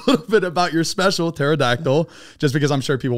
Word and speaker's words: pterodactyl: try to spell it everybody starts with a T and first of all there's a p in it there's also a